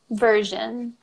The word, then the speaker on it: version: Version. Mm-hmm. And we'd say version, so we wouldn't pronounce the R.